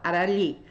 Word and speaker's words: Harali: No meu nome, por exemplo, Arali. Arali é uma palavra que tem mais letras do que fonemas, porque o H é mudo.